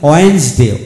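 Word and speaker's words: Wednesday: handsome handsome এখানে ডি উচ্চারিত হলো না যেমন ওয়েন্স ডে ওয়েন্স ডে ডব্লিউ ই N when W ই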